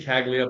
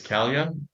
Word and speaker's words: Caglia: Well, I say Caglia, but I've realized that I've been pronouncing it wrong. It's Calia, Caglia.